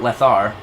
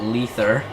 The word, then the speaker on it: leather: Leather, not lethar, but lether, as it's spelled.